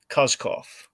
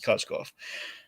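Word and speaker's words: Koskoff: was Michael and Jacob uh kozkoff I think it's how you say it cosgoff and they uh so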